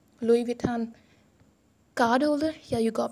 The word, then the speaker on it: Louis Vuitton: Brands are really expensive well I गॉट अ Louis Vuitton card holder, yeah, you got me right. This is pronunciated as Louis Vuitton. Louis Vuitton. Louis Vuitton.